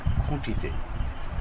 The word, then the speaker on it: খুঁটি: খুঁটি অর্থাৎ নাকে একটু বাঁধিয়ে উচ্চারণ করতে হবে। দাঁড়িয়ে দাঁড়িয়ে মানে বলার সময় সেগুলো একটু নাকে বাঁধবে।